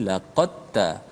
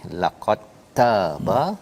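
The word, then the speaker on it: لَقَدْ تَابَ: Jadi maksudnya bacanya terus masuk ta. Betul. Dal tak bunyi dah. Tak bunyi. Okey. Ini penting, ya. Allah menceritakan, ya, cara bacanya tadi laqad taba, ya.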